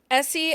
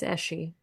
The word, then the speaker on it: Essie: Essie as the heroine. What? I said her name wrong. I know I did. It's You fine. did. It's Eshy.